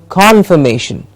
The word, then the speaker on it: confirmation: a confirmation for that the may gets a clear stress confirmation yes congratulation congratulation